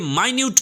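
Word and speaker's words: minute: আর যখন এটা এডজেক্টিভ হিসেবে ব্যবহার হবে তখন কিন্তু এর উচ্চারণটা হবে মাইনিউট।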